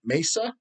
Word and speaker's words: Mesa: ] tickets I might be going in the Mesa because they pronounce it Mesa m-e-s-a Mesa Arizona show um because my sister-in-law